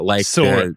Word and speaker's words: Sora: The first section, a lot about Sora 2, I don't even know if I did that That correct. sounds like a Z. Sora, like Sora. the Kingdom Hearts character.